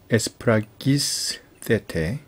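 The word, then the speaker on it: ἐσφραγίσθητε: 그래서 유앙겔리온 테스 소테리아스 헤몬 엔호 카이 비투산테스 에스프라기스 세테 에스 이건 F 발음이라고 그랬죠. 에스프라 기스 세테 에스프라기스세테 여기 악센트 여기 있습니다.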